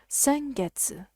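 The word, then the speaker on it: 先月: a prefix let's say it's the kanji that's pronounced sen sen sengetsu previous month or last month so let me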